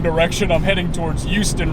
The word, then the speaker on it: Houston: you have to say Houston you have to make that H apparent it's not a silent H there I'm just gonna keep saying it as Houston though because I just